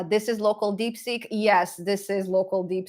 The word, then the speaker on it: DeepSeek: fine-tuned it with some dick seek dick seek deep seek output it's so hard to pronounce it deep seek um yeah so